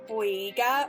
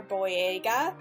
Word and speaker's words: Boyega: pronouncing stuff but i think his name is pronounced john boyega or boyega um he's a black man in my opinion